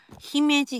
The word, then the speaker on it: 姫路: 色々あってねはい姫路は地元では姫路って言います地元の人はねでも東京の